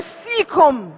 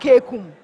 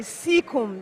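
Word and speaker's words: caecum: I'll give it to you spell is the seeum that's a proper pronunciation for that word not Kum normally seum that is how it's normally called all right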